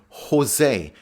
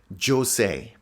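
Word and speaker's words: José: Remember to pronounce it the Spanish way, as in Jose, and not Jose.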